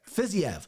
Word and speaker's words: Fiziev: Fiziev. Javier Fiziev is, and I can pronounce the next one, Bobby Green.